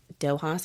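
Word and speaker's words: Dóchas: It's called Dohas Wellness. Um, it Dohas, I'm going to spell it out because most people uh can't pronounce it.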